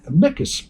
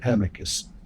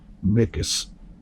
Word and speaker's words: amicus: wanted to submit a micas brief. I do believe that's the proper Latin pronunciation, not amicus. Mikas.